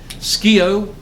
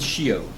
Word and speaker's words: scio: Uh that's the classic the ju- There's two pronunciations in Latin. Scio and shio.